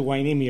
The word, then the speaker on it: Hueneme: And just for the record, is it pronounced Hueneme? Yes, it is a Hueneme.